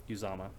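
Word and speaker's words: Uzomah: How do you pronounce it? Uzama.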